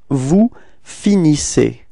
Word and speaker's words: vous finissez: see that the ending, the last two letters, so E-Z are pronounced like E, okay, IC. Alright, and you get the form vous finissez.